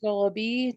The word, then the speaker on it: Goloby: Up next, we have Miss Amy Goloby tonight. I'm not sure how to pronounce your last name. How do you pronounce your last name? Goloby. It rhymes with Goloby. wallaby.